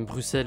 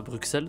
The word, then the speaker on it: Bruxelles: Bruxelles se prononce bien Bruxelles et non pas Bruxelles, tout comme la ville d'Auxerre.